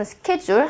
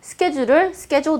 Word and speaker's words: schedule: schedule, 자, 우리도 한국에서도 많이 쓴 schedule 하는 schedule이라는 단어는 얼마 전에 제가 들어봤어요. 호주 분이 schedule 대신에 schedule 이런 발음을 하시더라고요.